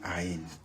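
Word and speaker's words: עין: 그게 이제 싸맥에 대한 이제 얘기들이라고 볼 수가 있고이어서 나오는 아인 예 싸맥은 s 발음이 나오는 거고요. 아인은 무음이에요. 사실은 예 맨 처음에 시작한 알레프라는 거 같이 이제 거의 거의 이제 발음이 묵음인데 뭐 에덴 동산일 때 에덴 그 앞에 에자가 이제이 아인으로 시작하는 거거든요.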